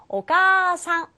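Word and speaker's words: お母さん: 하였죠 남의 엄마는 오상 가운데 있는 아는 역시 장음 처리에서 가상 가상으로 발음해 주셔야 합니다 둘 다 장음 처리해요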